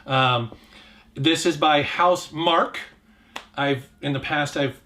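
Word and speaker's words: Housemarque: this is by house mark i've in the past i've mispronounced their name as marquis but it's mark they they do next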